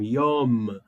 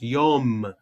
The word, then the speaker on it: Yom: Yom, lembra? Ó, os lábios terminam juntos. Yom, que é o memsofits.